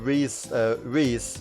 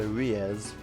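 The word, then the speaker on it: Riesz: If I wasn't already pronouncing Reese, then I would have been surprised. There was a time where I thought that she was pronounced Riez, which makes sense because the name is R-I-E-S-Z,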